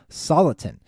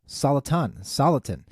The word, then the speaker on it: Soliton: The first one is this company called Soliton. Soliton. S-O-L-I-T-O-N. is how it is spelled, and the ticker is SOLY.